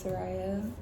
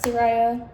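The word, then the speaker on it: Sariah: myself my name is sah um it's like Mariah just with an S for all of those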